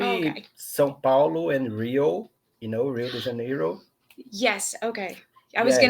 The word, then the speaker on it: Rio de Janeiro: Rio de Janeiro.